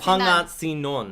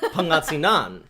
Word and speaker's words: Pangasinan: Like, I try my best to pronounce stuff correctly. Say Pangasinan. Pangasinan. No, nope. Pangasinan.